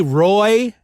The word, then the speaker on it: Ryu: And his name is, I believe it's pronounced Ryu. They say Roy in the dubbed, or at least the original.